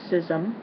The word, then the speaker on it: schism: first word uh Schism it can it or could be pronounced sism okay um it is